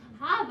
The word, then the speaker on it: Hava: So Hava has a fun name because her name rhymes with lava. So if you can't remember, it's Hava Lava.